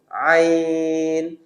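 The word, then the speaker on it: عين: হলো কণ্ঠনালীর মাঝখান মাঝখান মাখরাজটা হলো কণ্ঠনালীর মধ্যখান নরম করে চাপ দিবেন এবং এডভান্স লেভেলের যদি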